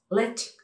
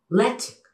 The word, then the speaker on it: Ledaig: Es ese que conocemos como Ledaig. Lechik. Lechik.